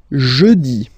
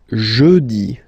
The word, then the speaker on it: jeudi: Next one, jeudi. Jeudi. Remember, when you combine this E-U, you get the sound E. Jeudi. Jeudi. So I insist a little bit, so make it softer.